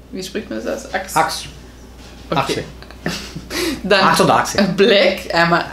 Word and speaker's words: Axe: Wie spricht man das aus? Axe.